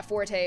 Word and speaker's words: Forte: And then yeah forte is supposed to be like you know like oh this isn't my forte blah blah you know whatever.